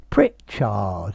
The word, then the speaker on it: Pritchard: an attractive man pritchard pritchard you can lengthen this hard as much as you want but you've got to put the stress on the first bit on the pritch pritchard poor thing well